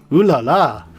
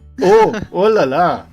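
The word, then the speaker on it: oh là là: Ooh la la! Oh la la! Oh, I said it wrong. Yeah, it's not ooh, it's oh. Oh la la!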